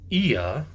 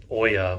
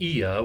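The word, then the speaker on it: Oia: to a winery and then we went to IA it's called not Oya we thought it was Oya but it's apparently pronounced IA which is a little village just north of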